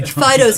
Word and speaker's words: Fido: Anyway, Fido's name is spelled correctly for the French pronunciation, and it is Fido.